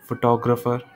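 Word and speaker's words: photographer: Okay, ये मैंने ठीक से प्रनाउंस नहीं किया. फोटोग्राफ, फोटोग्राफर, फोटोग्राफिक.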